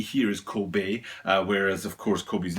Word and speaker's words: Kobe: And K-O-B-E here is Kobe, whereas of course Kobe's name is pronounced Kobe.